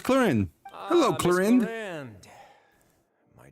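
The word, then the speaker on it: Clorinde: How is it pronounced Clarinde? When it's clearly no A in the name. It's Clarinde.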